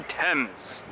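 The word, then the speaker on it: Thames: river T TS TS the temps it's spelled differently than it sounds you learn you learn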